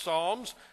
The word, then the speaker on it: Psalms: the book of psalms starts with a p but pronounced psalms and then move to